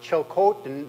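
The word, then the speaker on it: Tsilhqot'in: perspective just a a note on pronunciation um uh chil Coten that's the way I've pronounced that ever since the trial judge came down whenever that was six or seven years ago uh justice vicker's judgment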